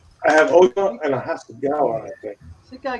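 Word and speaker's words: Hasegawa: Hasagawa, is that how you say it? Oh. Yeah, Hasagawa.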